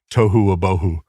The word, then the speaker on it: tohu wabohu: In Hebrew, it's tohu wabohu. Tohu wabohu? Tohu wabohu, yeah, it rhymes and and it means basically it's formless or chaotic, it's disordered, and it's empty.